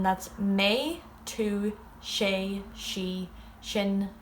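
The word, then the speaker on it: sinn: She is she, but of course it's spelled differently than English. And we is shin or mudge.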